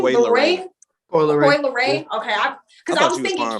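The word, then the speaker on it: Coi Leray: How do you pronounce her name? Leroy? Coy Leroy.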